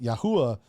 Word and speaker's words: YAHUAH: Allen, your brother Allen believes that it's pronounced YAHUAH in the later chapters.